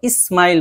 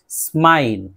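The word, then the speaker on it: smile: SM से शुरू होने वाला, स्माइल, आमतौर पे इसको स्माइल बहुत ज्यादा इस करके बोलते हैं, तो बहुत ज्यादा इस करके नहीं बोलना, हल्के से सीन की आवाज निकालनी है। स्माइल, स्माइल, स्मॉल, स्मॉल, smart, smart, स्मेल, स्मेल।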